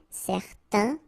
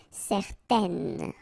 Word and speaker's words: certaines: Okay, if you add this at the end, then it will change the thing, and then you will pronounce it N. Okay, so the masculine form, certains, the feminine form, certaines.